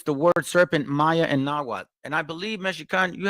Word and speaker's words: Nahuatl: I do want to say that it's called Nahuatl.